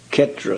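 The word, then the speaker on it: ক্ষেত্র: Sarvabhauma Bhattacharya lived in this way, and he has been called a Chetra Sannyasi. That is, a sannyasi living in Jagannath Puri. So in Bengali would be pronounced Ketra Sannyas.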